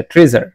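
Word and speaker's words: treasure: এসএস এস এস এরকম একটা sound উচ্চারণ হচ্ছে ট্রেজার উচ্চারণ করতে ট্রেজার উচ্চারণটা কি আসবে ট্রেজার আবার ঠিক একই রকম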